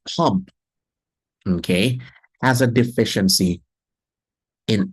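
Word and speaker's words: Pompe: with elevated lipids pump let's pronounce this as pump okay has a deficiency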